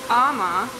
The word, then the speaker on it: Ema: Wrote it down for me, and it's you take one of the M's off and it's pronounced Ama, and he said, from my name I have great focus, I'm driven, compassionate, and I'm a superhero.